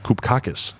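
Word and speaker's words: Cupcakke: do not listen to cupcake come on now cup kake koop kakis that that that's how you really pronounce it it's a lady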